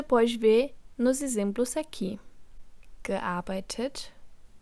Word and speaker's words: gearbeitet: Portanto, no caso do particípio 2, com essas terminações de radical, um E é inserido entre o radical do verbo e a terminação T do particípio.